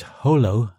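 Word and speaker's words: Jolo: most likely destination is Holo he pronounced it Holo as the locals did once you touch down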